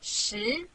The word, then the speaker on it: 十: This Chinese character means 10 in English.This is its syllable, 十.